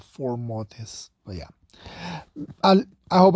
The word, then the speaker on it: Fomortiss: four more days but it's four mortis I don't know that are in the second syllable always trust me of four mortis not four mortis but yeah I'll I